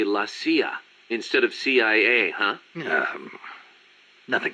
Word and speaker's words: CIA: Around here, they say La CIA instead of CIA, huh? Nothing strange about it. That's how it's pronounced when you read it in Spanish.